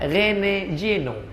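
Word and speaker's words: René Guénon: Cara bacanya Rene Geno.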